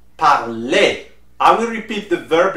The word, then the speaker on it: parlez: Easy at the end is pronounced E with the accent, the sound E. So you will say vous parlez.